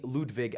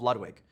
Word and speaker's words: Ludwig: his music enough that they called me Ludwig at birth. And then I bastardized it when I was a small American child and called myself Ludwig, which is not technically how you pronounce it.